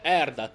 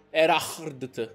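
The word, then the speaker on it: Erhardt: Sua Maestà è Sir Erdat, è con lui. Erardt. Come si legge? Erardt, dai, diciamolo bene.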